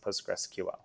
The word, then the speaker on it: PostgreSQL: there I've heard things like post gray SQL post gray Po postgressql and you know some some you know weird intonation on that but it's postgress and postgressql and do you remember